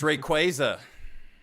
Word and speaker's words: Rayquaza: It's Rayquaza. Stop it. Like saying Rayquaza.